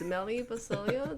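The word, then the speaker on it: Melli Bacilio: Only fans it's um definitely it's Melly Basilio. That's spelled M E L L I B A C I L I O.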